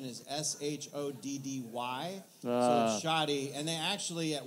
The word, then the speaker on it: Shoddy: accounts the only thing i've seen from a pronunciation is s-h-o-d-d-y shoddy and they actually at one point changed